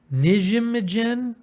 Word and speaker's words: Nijmegen: Nijmegen?